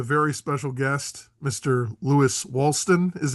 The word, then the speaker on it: Woolston: Lewis Walston is how it's pronounced, right? Woolston.